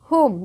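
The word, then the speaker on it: whom: Child to हुम।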